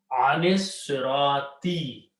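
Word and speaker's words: عَنِ الصِّرَاطِ: And now you read, you combine, you don't even pronounce this alif, and this alif becomes hamzatul wasl. So alif is not pronounced, lam is not pronounced, noon will combine to sod. Anis sirati.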